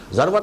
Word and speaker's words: ذروة: السنام، سنام کوہان ہے، اور ذروہ یہ دونوں اس کی تلفظ ہے، زال کے زبر کے ساتھ بھی اور زال کے زیر کے ساتھ بھی، ذروۃ السنام اور ذروۃ السنام۔ تو میں تمہیں بتاؤں